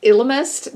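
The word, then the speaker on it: Ellimist: elements to chronicles uh i pronounce it elemist i think some people might say illimist but i've always said elemist so the elements chronicles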